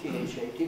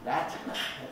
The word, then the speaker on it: that: There are two words that in English, T-H-A-T, both spelled the same, of course. One, that always has schwa, and is a relative. One, that, it always has the clear vowel that, and it's a demonstrative.